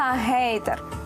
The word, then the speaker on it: гейтер: дещо ви до змінилися вони усі три лексеми в англійській прочитуються через H яка в українській переважно транслітерується як літера г саме тому доцільно вимовляти і писати гештег гайд та гейтер усі фото злочинів РФ